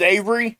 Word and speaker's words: Avari: But yeah, and her name is Avery. I know it's spelled Avari.